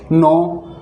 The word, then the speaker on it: know: एन से पहले अगर के आता है तो के साइलेंट हो जाता है। जैसे नो यानी जानना, KNOW, नो, नो यानी जानना।